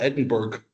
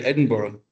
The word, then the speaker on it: Edinburgh: Everyone claims to call it Edinburg and it's you know we say Edinburgh.